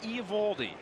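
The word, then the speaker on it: Eovaldi: and then Alex white the pitcher Nathan Nathan e evaldi don't pronounce Theo evaldi we are told big right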